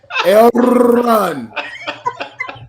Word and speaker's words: Elrond: You got to pronounce it right. Elrond.